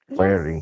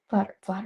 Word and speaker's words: Flaherty: Flaherty. Yes. What? His last name's Flaherty. Flatter, flatter.